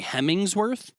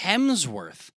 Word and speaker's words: Hemsworth: like looks first off did you just say hemingsworth well how do you say it's Hemsworth it's not even it's not only bad that you got it massively wrong it's not hemingsworth it's not a Hemi it's not an engine in a car not